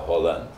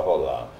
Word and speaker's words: Roland: um D no final, Roland. É um francês, mas não se pronuncia o D, é só Roland.